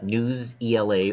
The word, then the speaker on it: Newsela: that you're going to use news Ela or Newsela I've heard it pronounced both ways and you're going to